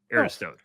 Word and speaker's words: Aristode: Also, yeah, according to Arizona's website, we are pronouncing the last name correctly. Aristo love that which is a first of all time.